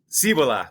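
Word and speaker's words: Cibola: these seven cities, you know, Cibila is or Chibila. I I've always read it. Do you know how to pronounce that by the way? Is it Chiba? Cibila.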